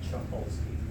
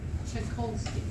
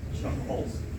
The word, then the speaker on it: Chuckolsky: Chuckolsky. Chikolsky. Close. Chuckolsky.